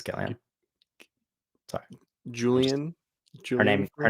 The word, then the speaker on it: Gillian: know a little um what's her name Flynn Julian Flynn yeah Julian Flynn action Gillian it's gilan sorry Julian julan her name her name is